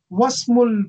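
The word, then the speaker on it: وَاسْمُ: So then it, the E is, you don't pronounce E. So you say, Wasmul Binti Aminatu.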